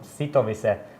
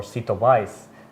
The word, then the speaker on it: Sitowise: eminent i come from sito visa or cetovice as you want to pronounce it and uh we are